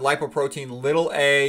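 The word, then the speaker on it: lipoprotein(a): Okay, so again, you usually will pronounce it lipoprotein little a.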